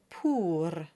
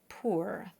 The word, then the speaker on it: pour: We have jour and pour. Whatever you do, it's not jour and pour.